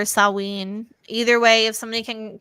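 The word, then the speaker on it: Samhain: treat wa hold already I thought it was it was like pronounced sawe that's how I've heard it it say sawin sawin so we'll say sawin or saween either way if somebody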